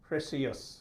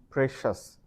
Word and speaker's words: precious: Again spelling দেখে উচ্চারণ করার চেষ্টা করে, ভাবে এটাকে সিয়াস or সিয়াস, যেটা আসলে it's only 1 syllable. It's like it has to be precious.